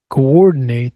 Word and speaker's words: coordinate: Coordinate. That's to coordinate. second uh stress on the second syllable dehydration.